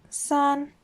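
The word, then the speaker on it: 三: one is the longest of the three that's pronounced sun now this is where things change up a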